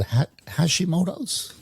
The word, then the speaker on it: Hashimoto's: You've got something called Hashimotos. Did I pronounce that correct?